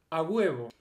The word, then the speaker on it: a huevo: Для тех, которые не говорят по-испански, хотя на испанском языке это произносится как «a huevo».